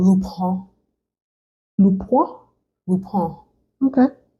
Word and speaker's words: Lupin: seen Lupin on Netflix it's French so it's not actually pronounced like that it's lupon and it's a French